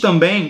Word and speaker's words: também: E isso aí traz um som nasal, então esse M ou N não será pronunciado, como no caso de também.